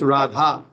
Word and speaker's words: Radha: you'll see that uh we western people we often don't pronounce Radharani Shrimati Radharani's name we we tend to chant Jad Radha. It's Radha. But we because we're a little lazy person upstairs, we say Rada.